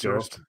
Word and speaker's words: Joost: It is pronounced Joost.